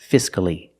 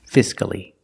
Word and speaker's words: fiscally: not silent locally and the last word is fiscally again there's only one syllable before c-a-l-l-y so the a is not silent fiscally what do these words